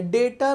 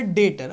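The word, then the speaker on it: debtor: है डेटर आप बोलोगे सर डेप्ट लिखा है सर यहां पर तो डेप्ट लिखा है बेटा यह बी साइलेंट है ये बी साइलेंट है दूसरा होता है क्रेडिटर समझ में आ रहा है डेटर और क्रेडिटर बेटा डेटर मत बोलना डेटर बोलना क्या बोलना डेटर बी साइलेंट डेटर और क्रेडिटर बेटा डेटर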